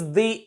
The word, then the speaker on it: the: यहां पर हम इसको दी प्रोनाउंस करेंगे क्योंकि इससे नेक्स्ट जो एडजेक्टिव है वो वॉवल साउंड से शुरू होता है. सो we shall pronounce this THE एज दी.